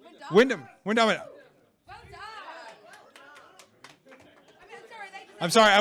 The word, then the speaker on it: Wyndham: Wamondam? Windeman? Windham. Well done. I'm sorry, I was going phonetically by how it's spelled on the answer sheet.